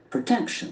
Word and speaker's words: protection: is again a very interesting word okay so protection protection the accent Falls of the second cell